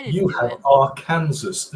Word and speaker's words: Arkansas: Arkansas and Tucson. Why not say it like Kansas is right? Yeah, because it literally has the word in it, and yet somehow it's Arkansas.